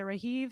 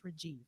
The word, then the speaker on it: Rajiv: your name is it rahiv i feel like red leaf so it's pronounced as a j and not an h usually a j every time he's coming